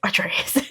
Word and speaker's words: Atreus: But I thought it was very funny because you were just like, it's Atreus.